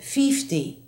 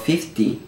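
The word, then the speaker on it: fifty: the situation coming up Carlos says fify instead of 50 how many boxes have you packed already it must be about 50 50 50 the J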